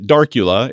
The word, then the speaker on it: Darcula: Speaking of these kind of things, Darcula, yes, I said it right, Darcula is a cybercrime group that provides a phishing as a service toolkit to other bad people.